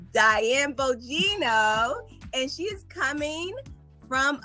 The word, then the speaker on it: Diane Bogino: I'm going to let her pronounce her whole name for you. Diane Bogino. Diane Bogino.